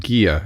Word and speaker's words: Gigha: It's the island called Gia. It's spelled Gigha.